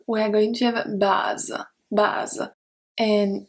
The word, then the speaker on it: bas: Let's see bas first. So we have bas. For masculine singular, we don't pronounce the S.